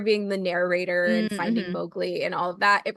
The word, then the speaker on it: Mowgli: young boy named Mowgli, who apparently that is pronounced wrong in the movie. Apparently it's supposed to be Mowgli, according to Rudyard Kipling, who wrote the short stories that Jungle Book is based on.